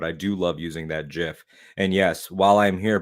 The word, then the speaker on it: GIF: it is called because much like moms choosing peanut butter choosy developers choose GIF don't forget about the